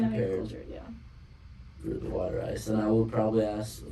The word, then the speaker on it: water ice: pronounced Witter Ice. It's Witter. Water ice. Those are like the hardcore Philly accents.